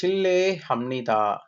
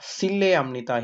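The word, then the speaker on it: 실례합니다: ஷில்லே இந்த சி வந்து நாங்க உச்சரிக்கிற நேரம் இது வந்து ஷீன்னு தான் நாங்க வாசிக்கணும். இது வந்து சானா வந்து வாசிக்கிறது இல்லை சரிதானே? SIH இந்த இப்படித்தான் நாங்க இதை வாசிக்கிறோம். அப்ப இது வந்து ஷில்லே ஹம்னிதா. சில்லே ஹம்னிதா இல்ல, ஷில்லே ஹம்னிதா.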